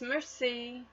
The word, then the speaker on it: merci: me I teach everyone how to say thank you in French it's merci you say it like Marcie that evening I tell